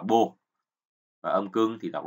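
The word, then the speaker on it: 母: Âm Hán Việt của chữ mẫu là âm Hán Việt là chữ mẫu, còn âm ông Yomi thì chúng ta đọc là bồ.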